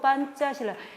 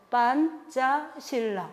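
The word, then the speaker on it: Pancasila: 이데올로기 오브 판짜실라. 이게 바로 판짜실라. 인도네시아 말은요. 스펠링은 알파벳으로 쓰고요. 발음은 된 소리를 내는 거예요. 예. P는 빼로 나는 거죠. C는 째. 그래서 그래요. 판짜실라. 어렵지 않죠? 네, 판짜실라.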